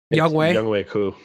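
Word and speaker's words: Younghoe Koo: young way or how do how do you pronounce his kicker yes yep young way cou young way cou um those were Alex's three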